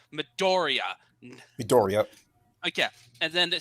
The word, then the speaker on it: Midoriya: the thing okay so first off uh you pronounced it wrong it's midoriya medoria okay and then the second off how